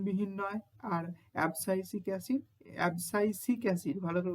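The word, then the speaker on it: abscisic acid: অবসাইসিক এসিড। ভালো করে উচ্চারণ করো। এবসাইটিক হয়ে যায় না কেনঅবসাইসিক এসিড এটা কিন্তু নাইট্রোজেন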